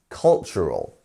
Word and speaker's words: cultural: cultural one more time cultural and here our stress syllable is on the first one so cultural our stress ones on the first cultural not cultural or cultural you see um and